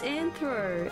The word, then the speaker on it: nthr: yo how you doing oh it's anthro oh right how you